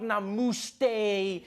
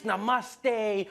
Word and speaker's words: namaste: People were coming on like, dude, it's not namaste, it's namaste. Who messes up namaste? It says namaste.